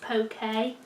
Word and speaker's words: poke: in my poke bowls sounds like I'm saying that really Posh but that's how you pronounce it poke so I think these